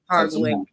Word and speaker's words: Hardwick: Hardwick. Oh God, I'm so embarrassed. I wish I'd known. I was saying it wrong. I had an E at the end, so I just added the E at the end.